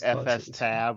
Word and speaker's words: fstab: it I don't know I don't think there's a wrong way and it's FS tab or whatever but I always pronounce it f stab as well same yeah same with